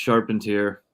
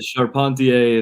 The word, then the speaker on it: Charpentier: It's pronounced Charpentier. Charpentier. All right. Yeah, Charpentier if you're in France.